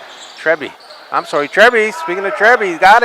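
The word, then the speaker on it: Trebbe: Trebby is how I would say it anyway. Trebby. I thought you said T. T-R-E-B-B-E. Trebby. Trebby. Oh, Trebby. I wrote D. Trebby. I'm sorry, Trebby.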